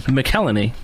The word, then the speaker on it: McElhenney: How do you pronounce his last name? McElhenney.